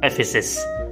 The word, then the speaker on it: Ephesus: Okay, the correct pronunciation of this word is Ephesus.